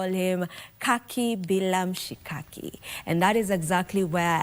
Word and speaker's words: KakiBilamshikaki: So KakiBilamshikaki, the first Kaki rhymes with the last Kaki, so it's poetic.